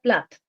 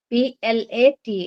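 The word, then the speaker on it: Plath: was Sylvia s y LV I a Sylvia plat p l a t h Sylvia plat she was one of the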